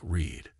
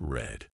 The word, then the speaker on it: read: to keep things interesting read in the present is pronounced like Reed but in the past it's red mind blown and why